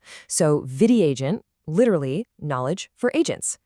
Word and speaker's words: VidyAgent: It is called Vidi Agent. That's v i d a agent. The first part is derived from the Sanskrit word vidya, which means knowledge, and it perfectly rhymes with bidya. So, Vidi Agent literally knowledge for agents.